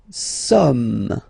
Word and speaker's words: sommes: Nous sommes, okay. Nous sommes, okay. So you don't pronounce the final S here.